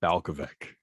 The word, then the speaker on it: Balkovec: mentioned it rachel rachel michael balcoveck right balcovic there we go we figured it out we agreed on a way to pronounce it she we we messed